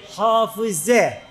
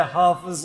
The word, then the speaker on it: hafız: Efendim, Arapça gramer gereği hafize diye telaffuz edilir. Ama Türkçe'de biz kız ve erkek çocuklarımıza doğrudan hafız diyoruz. Bundan dolayı ben Türkçe şekliyle hafız olarak davet edeceğim inşallah.